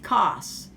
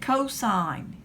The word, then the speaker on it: cos: is going to be cosine now we abbreviate cosine cos and sometimes do does a read cost read it cosine even with cos cosine and then another one